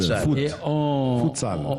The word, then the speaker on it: futsal: À l'espagnol, futsal.